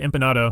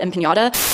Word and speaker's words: empanada: That is until she utters the name bad empanada, or as Madison would pronounce it, bad empiñata.